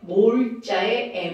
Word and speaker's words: M: 그럼 몰퍼리터를 한 단위로 뭐라고 하는 거냐면 몰농도의 몰자의 m을 씁니다. 그러니까 몰퍼리터와 m은 같은 거죠. 근데 이걸 m이라고 읽으면 안 되고요. 이것도 몰이라고 읽습니다.